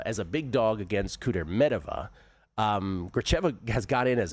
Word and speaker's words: Kudermetova: I have for years called her Kudermetova, but it's a Kudermetova, apparently. Yeah. So it's Gracheva as a big dog against Kudermetova.